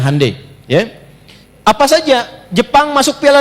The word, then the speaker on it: Hyundai: Ya, Hyundai saya tahu bahasanya dibacanya Hai ya.